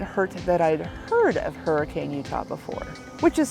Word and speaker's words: Hurricane: it certainly didn't hurt that I'd heard of Hurricane Utah before which is spelled like hurricane but pronounced heran by the locals anyway it's the setting of